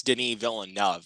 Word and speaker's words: Denis Villeneuve: glance but yeah but it's it's denis villeneuve like as i heard from um from chris stuckman here on the medium